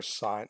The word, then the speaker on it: sine: So now when you go into grade 11, please don't say this is the sin ratio. This is sine. Okay, it's just a short version of sine, so it's the same word.